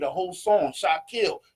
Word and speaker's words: Shakil: right a whole song Shot kill that's the name say it right not shot not shill but shot kill yet and